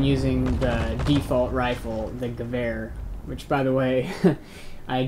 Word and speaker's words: Gewehr: So it's Gewehr, which makes sense, because the Germans, you know, they use the W sound in German, makes a V sound, you know.